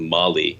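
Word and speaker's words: Malé: Maldives that's the capital I think Molly is how you pronounce it and you know I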